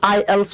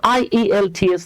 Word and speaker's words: IELTS: তো কি হবে জি এইটা কিন্তু আই ই এল টি এস না কজ এটা হলো বাবা অ্যাক্রোনিম তো অ্যাক্রোনিমটাকে কি পড়তে হয় এটাকে পড়তে হয় আইএলস হ্যাঁ আইলস এগুলো কি